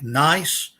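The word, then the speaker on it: gneiss: is a rock like nice the g is silent schist got to be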